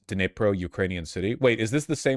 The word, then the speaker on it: Dnipro: It's a little bit like DN, but you can almost ignore the D sound.